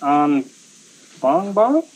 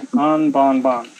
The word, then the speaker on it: Anbangbang: called, pronounced Burrungkuy, and the lower area is pronounced Anbangbang. Yeah. Anbangbang.